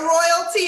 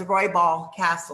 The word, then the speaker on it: Roybal-Kastl: I mean, I'm ghetto royalty in my mind. You pronounced my last name correctly, except for it's Roybal-Kastl. Oh, sorry. I said Royal.